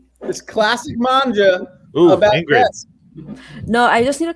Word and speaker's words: manga: cowboy bebop supreme uh it is not mangia okay no because i thought you meant manga i did mean manga they're just saying mangia because i said it wrong it is manga man okay because mangia is like italian okay so yes that